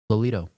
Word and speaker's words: Lelito: Lelito.